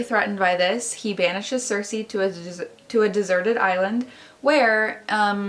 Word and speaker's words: Circe: The next book that I have is Circe. I'm pretty sure you say it like that, Circe.